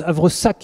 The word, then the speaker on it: havresac: a comme difficulté le havre sac c'est le sac en fait un havresac même si on prononce à vrsac et à 15 aces